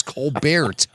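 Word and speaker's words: Colbert: He He doesn't know how to even pronounce his own last name properly. It's Cobert.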